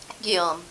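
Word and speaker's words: Guillaume: say it where is italine well it's spelled galami dammit g-i-l-l-a-u-m-e is galami all damn day in America yep how'd you say it's pronounced again gilm huh yum yum I ain't never gonna remember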